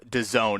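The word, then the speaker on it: DAZN: by the name of Done. It's an acronym, D A ZN, but that's how they pronounce it.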